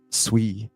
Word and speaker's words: Sui: You got me saying it like a pretentious Sui, you know.